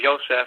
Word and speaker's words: Yoseph: is the letters J there's really no sound of J or a letter J in Hebrew uh so Joseph in Hebrew is yoseph and Jerusalem is yusal